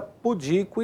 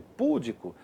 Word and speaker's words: pudico: Essas palavras são paroxítonas, tá vendo a sílaba tônica ali em azulzinho, ó? Porém são normalmente transformadas em proparoxítonas, o que significa ou que configura um erro de prosódia, um erro de pronúncia. Como assim? Aqui, ó. Então é muito comum você ouvir a pessoa falar, né? Filântropo, ou recorde, ou rúbrica, líbido e púdico. Errado.